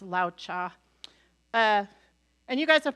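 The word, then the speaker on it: Laozi: wrong I think it's I always want to say laoz Zao I think it's pronounced Lao cha uh and you guys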